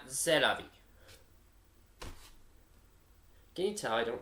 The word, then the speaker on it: c'est la vie: It's actually c'est la vie, not c'est la vie.